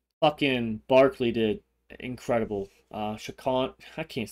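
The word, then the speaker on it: Saquon: at least sorry um shaan that's how you say it Barkley Shaquan yeah Shaquan Barkley 100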